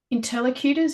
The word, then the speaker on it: interlocutor: he sort of has two uh two primary interlocutors interlocutors I'm never sure how to say that